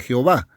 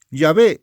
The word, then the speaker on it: Jehová: falsamente se llama Jehová, porque Jehová no es la palabra correcta. A eso me refiero. No llamado falsamente, pero debo decir pronunciado falsamente Jehová. Yahvé es el Yahvé, No